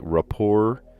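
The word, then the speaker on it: rapport: so off the bat I see a bunch of words that have a silent te in them like rapor debut tarot monster all of these have well I guess psycho has a silent p in it but that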